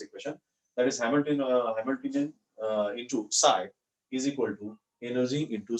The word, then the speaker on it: psi: So इसे psi ऐसा pronounce किया जाता है.